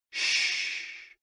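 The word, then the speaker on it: 嘘: The 6 sounds are XU, pronounced like shh, with a deep sigh, which is associated with the liver.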